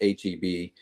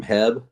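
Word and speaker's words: H-E-B: We're familiar with HEB, but it was funny. She said I got this sausage from Heb. She goes, "Is Oh. that how you say it?" It's kind of funny.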